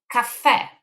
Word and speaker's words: caffè: One of them is caffè. The chi sound here is pronounced as k, and every time C